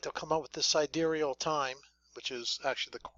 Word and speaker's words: sidereal: real fast, like they'll come up with this sidereal time, which is actually the correct way to pronounce it.